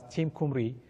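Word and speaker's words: Team Cymru: Okay, so for bogons, you can check the Team Kumri. I didn't know that it's pronounced that way, but I came to know about it recently. So it's pronounced as Team Kumri.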